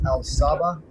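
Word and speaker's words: Al Sabbah: And the last name is spelled It's Al Sabah.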